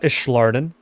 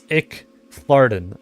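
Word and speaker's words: Icthlarin: It's not Ishardin. It's Icklordin. Icklordin.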